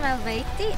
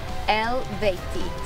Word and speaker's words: Eluveitie: Hey everyone, I'm Fabi from Elveti, and the right way to pronounce our band name is Elveti.